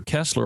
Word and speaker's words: Koestler: in his life, Arthur Koestler, or Koestler as it would have been pronounced in the German, he was actively involved in parapsychological research.